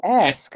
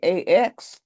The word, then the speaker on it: ask: I said, "Right now, quickly, as soon as you get ass out of your mouth, put a K on it." And she said, "Oh, ask." I said, "Right." Don't just say ax.